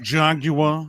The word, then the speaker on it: Jaguar: It's pronounced Jaguar.